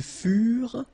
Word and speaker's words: furent: Ils furent, elles furent. Keep in mind that ENT, you know, the ending for the plural form is never pronounced, so furent. Okay? Ils furent, elles furent.